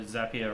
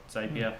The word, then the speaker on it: Zapier: I think another great sort of tool to start with is like your Zapier or Zapier, however you want to pronounce it, depending on where you are.